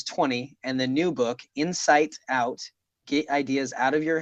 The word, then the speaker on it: Insight Out: We're going to talk about this new book of yours called Insight Out. And I will admit I mispronounced the name of that book at least 3 times and kept calling it Inside Out, even though I knew what it was.